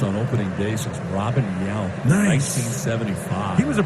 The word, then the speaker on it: Yount: How do you pronounce that? Robin whatever? Yount.